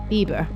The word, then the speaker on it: Bieber: west of Law called Bieber, which I did double check the pronunciation of this one, because I was like, surely it's not pronounced Bieber as in Justin Bieber, but it is.